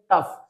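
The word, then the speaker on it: tough: H silent नहीं है बल्कि जी एच यहां पर एफ का एफ का साउंड दे रहा है। जैसे टी ओ यू जी एच इसको हम पढ़ते हैं टफ।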